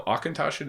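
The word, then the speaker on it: Auchentoshan: are crazy but yeah uh no akintoshi is correct yeah congratulations or i'm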